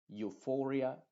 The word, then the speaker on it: euphoria: uno de la u por ejemplo eucalyptus Euphoria eulogy te das cuenta que esta eu la e está siendo completamente muda y la u es la que se está pronunciando con su sonido original número uno que es Yu aunque a veces se